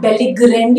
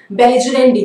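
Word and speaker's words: belligerendi: इट्स नॉट बेलिग्रेंडी, इट्स नॉट ग, इट्स ज, बेलिजरेंडी। Pronunciation पे ध्यान रखिएगा।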